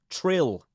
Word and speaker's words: Trill: Trill. To rhyme with krill.